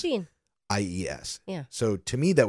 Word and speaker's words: Jeanies: Like jean, like blue jeans. Jean. IES.